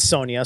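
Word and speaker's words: Sonja: uh based on red Sonia so that's Sonia with a J that's that's pronounced like a y for whatever reason it's spelled that way and not that it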